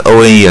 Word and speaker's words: one: 这个 O N E 啊，他不念 on，他念